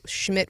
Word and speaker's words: Schmidt: Or they say there was somebody calling Schmidt the wrong first name, and it's like Schmidt with a D, Schmidt. Two T's. Yeah, I mean, it's just Big Eric.